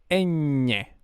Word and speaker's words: ñ: see that this is ñ. Ñ, it's pronounced with, like, if your tongue was completely flat, and you like support it in the side of the mouth, like in both teeth lines. Ñ in the top part, like N, but Ñ.